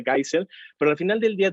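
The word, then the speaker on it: Geisel: bueno de otros gases gais o algo así se pronuncia kaiser pero al final del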